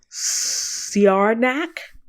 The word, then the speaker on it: Siarnaq: There's a moon called Siarnak. And it's spelled Siarnaq.